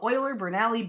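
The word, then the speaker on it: Euler–Bernoulli: beam yes Greg the oiler brali beam Theory correct and no one ever pronounces it correctly so I'm very proud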